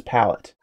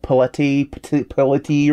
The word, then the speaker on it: palette: That's how you pronounce it, is palette. Did you want me to pronounce it paletti or something?